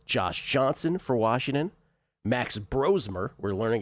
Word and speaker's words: Brosmer: perhaps Josh Johnson for Washington, Max Bromer, we're learning it's called, it's pronounced Brosmer now, Max Bromer for the Vikings, and Chris Atlaticanin of the Kansas City Chiefs.